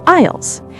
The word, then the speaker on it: aisles: Inside the store, the long rows of shelves are called aisles. A I S L E. The S is silent, so it sounds like isle.